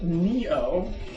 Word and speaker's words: Nioh: Little video game called Neo, not Oni, which I thought it was supposed to be a pun on that, but apparently Neo means new king. Neo is spelled real weird. Neo.